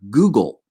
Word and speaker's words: googol: So, for example, there's the number Google, which is spelled Googol, and Google is a number that starts with a 1 and then has 100 zeros after that.